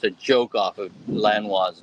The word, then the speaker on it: Lanois: Neil would always call uh Dan LeNoise instead of Lanois. Yeah, Lanois Lanois is real name and then he Yeah. And everybody would get it mixed up cuz they didn't know it's the French pronunciation or whatever.